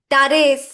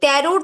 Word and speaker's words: Tarot: আছে টারু ঠিক আছে টারেস লাস্ট পর্যন্ত কি এসেছে টারো টি সাইলেন্ট থাকে ট্যারোড বলবো না টারো ঠিক আছে সাইলেন্ট থাকে তো যেটা আমাদের প্রোনাউন্সিয়েশন সেটা কি টারো তো টারো লাস্টে এসেছে